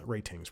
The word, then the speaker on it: Rtings: I believe there's a tech website called Rtings, Ratings pronounced, I believe, but Rtings, and they're an excellent